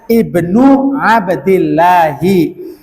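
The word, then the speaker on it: ابن عبد الله: Maka bacanya Ibnu Abdillahi. Karena Abdullah putranya Abdul Muttalib, maka Abdillahi bni Abdil. Udah nggak ada domah lagi urusannya, ya.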